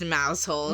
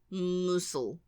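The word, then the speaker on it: Mousehole: cute all right but clearly it's not pronounced mous hole so how annoying can we be here let's see musle musul I'm going to say musul it's in Cornwall okay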